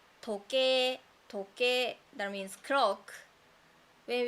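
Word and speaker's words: 時計: We don't say that. We say toke, toke as clock. So when you find any words that is written like a I sound and o u sound, should be pronounced like a, o.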